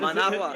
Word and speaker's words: Managua: Did he go back to Managua? I don't know. Maybe, Is that how you say it? Managua.